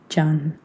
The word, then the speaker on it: Can: Imagine that C is a J and you are rolling your tongue out like a red carpet as you deliver it. Can.